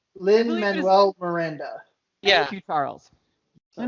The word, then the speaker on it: Lin-Manuel Miranda: Lin-Manuel Miranda.